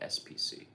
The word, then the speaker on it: 5PC: 5PC, but you say it like SPC.